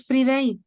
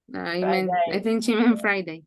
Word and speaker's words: Friday: and for some reason you said free day to talk about Friday the pronunciation okay Friday what happened what happened